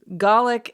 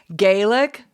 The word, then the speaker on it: Gaelic: And so Gallic is the Scottish way to say what we would know in the US. We hear it a lot of times like from an Irish pronunciation of Gaelic. So that was something that I learned that was new. Gaelic, Irish, Gallic, Scottish.